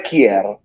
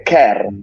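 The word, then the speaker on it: Kjær: come che è difficile pronunciare come kier non è kier è care che Simon K se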